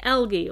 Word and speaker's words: algae: Your first task, or our first task, is to study algae, or algae, depending upon how you pronounce it, a key species for our habitat.